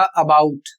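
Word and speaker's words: about: इसका जो सही उच्चारण होगा वह होगा अबाउट और अबाउट नहीं पढ़ना है।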